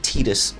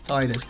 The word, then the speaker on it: Tidus: voice is American and pronounces it Tidus, which is so wrong. It's not Tidus, it's Tidus.